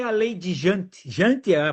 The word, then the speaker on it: Jante: Jante, a pronúncia é sempre horrível, tá? Vamos lá, lei de Jante. E antes, porque porque é com J, né? É, daí o J tem som de I.